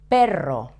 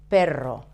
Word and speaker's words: perro: You have to put the tip of your tongue touching the front of the roof of your mouth and without touching the palate with the rest of your tongue.